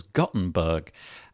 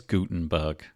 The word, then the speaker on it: Gutenberg: say it that way i thought it was gottenberg and apparently it's not apparently it is gutenberg with sort of like